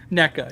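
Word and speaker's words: Nneka: I'm surprised no one said anything, but NECA, yes, NECA is how you say her name.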